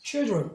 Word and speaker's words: children: 얘도 마찬가지로 이렇게 길어지기만 하면 더 이상 I라고 발음 안 하고 이제는 아까 그런 현상이 아니죠. 맨 뒤에 있는 게 아니기 때문에 뒤에 자음 두 개니까 당연히 단모음 E로 하는 거예요. children 여기 R이 있었죠? children 이렇게 되겠죠.